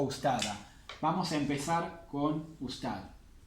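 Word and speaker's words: أستاذة: Ustada, profesora. La T marbuta no la vamos a pronunciar si está así.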